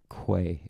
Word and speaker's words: Kwai: Kwai is pronounced Kwai.